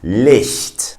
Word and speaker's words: Licht: If I want to say light, I say Licht. So again, a sound that comes from the back of the throat, and it's a little bit hard to pronounce because most languages do not have that sound. They don't have an equivalent. You really have to hear that one and try to, copy that.